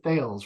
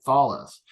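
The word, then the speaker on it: Thales: but they're partnered with I always mispronounce this French company um thus or thus yeah see I didn't say thals right thalis and they actually they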